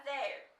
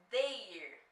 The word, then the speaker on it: their: Presta atenção na pronúncia, não é porque é they que você vai falar their. Não é assim. É they, mas nesse do adjetivo possessivo você vai falar their. É aberto, tá?